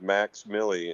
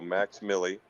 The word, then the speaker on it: MVXMILLI: He goes by the name of Max Millie, and it's spelled MVXMILLI. Again, V, the letter V is in Victor, MILLI. So Max Millie, and he's doing really fun material these days.